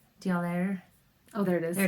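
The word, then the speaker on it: d'Aulaire: Dialaire. Oh, there it is. There it is, yeah. Ingrid and Edgar Dialaire. D''Aulaire.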